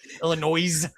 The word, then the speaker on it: Illinois: Uh, who who the f pronounces the s in Illinois? Illinois.